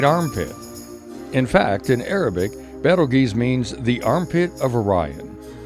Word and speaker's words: Betelgeuse: That is Betelgeuse, commonly mispronounced Beetlejuice after the film of the same name.